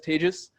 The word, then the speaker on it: Tejas: As Robin so lovingly said, my name is Tejas. That's pronounced like contagious.